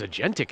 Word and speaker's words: agentic: What does agentic AI mean? How do you pronounce agentic?